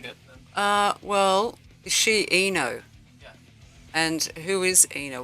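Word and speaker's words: I-No: pronounced Eno.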